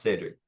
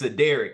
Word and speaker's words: Cedric: with with me uh the way my name is spell it looks like sedic you know it's honestly if you pronounce it the correct way it probably will say seder or cedc or something like that and it's supposed to be pronounced Cedric I'm the same way